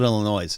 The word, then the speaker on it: Illinois: force center today Illinois don't call it Illinois sometimes occasionally I'll see that s and I say it like I'm in second grade Illinois election board dismiss